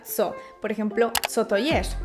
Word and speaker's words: co: Por ejemplo, si un hispanohablante ve esto, pensará que se pronuncia ko, pero en realidad se pronuncia zo.